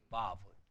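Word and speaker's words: וָו: W가 아니라 V로 바꿔야 돼요. 그렇죠? 바브, 바브. V로 바꾸셔야 됩니다.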